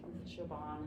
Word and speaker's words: Siobhan: just understanding and trying to be patient, like Siobhan, is that how you pronounce her name, Siobhan, his Yeah.